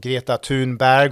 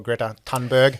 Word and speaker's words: Greta Thunberg: your time overseas working with, the likes of Greta Thunberg, or Greta Thunberg, as it's beautifully translated into Anglo, and Malala, and all these amazing things.